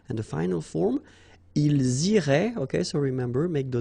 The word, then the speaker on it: iraient: So, ils iraient, and then if you look carefully, you get A-I-E-N-T, okay? But then phonetically, it goes like E, okay? So, technically, these form and these forms here are pronounced the same way, and it goes like irait, okay?